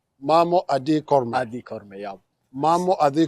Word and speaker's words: Mamo Adi Korme: Okay, Mamo Adi Korme. Mamo Adi Korme.